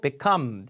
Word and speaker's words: become: 점점점점 싸져 왔잖아요 그러니까 become 강 강세 빼고 become 강세 그래서 become 것들과 have